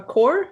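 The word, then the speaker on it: coir: what is a and i think it's pronounced a core c-o-i-r oh of course i'm sorry yeah quar log is basically it's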